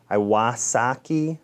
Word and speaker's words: Iwasaki: grounding evidence iwaski says iwasaki awasaki i believe that's how you pronounce it iwasaki iwasaki however if you